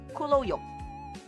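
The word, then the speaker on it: 咕嚕肉: And in Cantonese, we kind of pronounce it as kuloyok.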